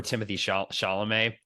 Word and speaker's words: Timothée Chalamet: It just, maybe it'll just take me time to get over Timothy Chalamet as well. Am I pronouncing his name correctly?